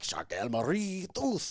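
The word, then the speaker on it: Charcot-Marie-Tooth: and I have, it's like a weird French pronunciation. It's like it's CMT, which is like Charcot Marie tooth, but you say Charcot and Marie with a weird way. I think it's like Charcot Marie tooth or something like that.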